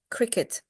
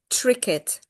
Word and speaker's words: cricket: Because I keep hearing tricket, and it sounds like cricket, but it's not cricket. So I just want to make sure that you say it correctly, okay? So it's cricket with K, like at the beginning, yeah?